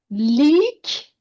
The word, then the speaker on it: لیک: Leak. So leak, le plus long vowel of e plus ke.